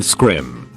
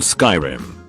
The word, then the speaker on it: Skyrim: laughed condescendingly and said no I mean scrim thinking he was just mistaken I was like oh no it's called Skyrim no it's not it's pronounced scrim at that point I